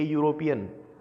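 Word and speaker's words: European: आना चाहिए था, लेकिन इसकी जो उच्चारण है उसमें यह आता है, इसलिए ए आएगा।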